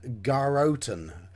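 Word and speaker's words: Garrotten: called garotton now mr lakovka gives us the pronunciation garotan but it's spelt g a double r o double t e n thus it will be geroton with a name like that you can imagine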